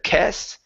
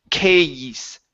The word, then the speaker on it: case: Okay, it's a diphthong. So a instead of kes, it's case.